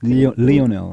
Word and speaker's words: Lionel: and Mar maradana yeah to Lionel Messi it's pronounced Leonel Leonel Messi Wayne Rooney and Ronaldo yeah p is